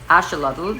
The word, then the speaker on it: axolotl: Actually, the correct way to pronounce it is axolotl because it comes from the Nahuatl, and basically axolotl means water monster.